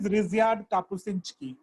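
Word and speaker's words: Ryszard Kapuściński: I'll send you because it's a very complex Polish. But the way you say it is Ryszard Kapuscinski.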